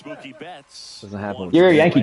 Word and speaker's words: Mookie Betts: They pronounce it like this. They go Kuwait. They go Mookie Batis.